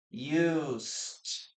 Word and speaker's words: used: So we pronounce this as used, letter T or T sound.